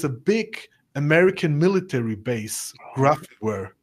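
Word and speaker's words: Grafenwöhr: big American military base, Grafware. The Americans say Graf.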